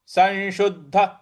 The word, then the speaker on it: संशुद्ध: योगी योगी संशुद्ध संशुद्ध स छोटा वाला है उसके ऊपर अनुस्वार है और उसके आगे फिर बड़ा वाला श है तो जो अनुस्वार है उसका उच्चारण हमें न ले आना है न संशुद्ध संशुद्ध और इसके आगे जो द है शुको आघात देना है शुद्ध संशुद्ध किल किलबिशाह